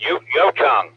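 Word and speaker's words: Yucheng: way to pronounce it we always say uh what was that mikey was saying you you tongue oh yeah that's pretty accurate actually yeah you challenged my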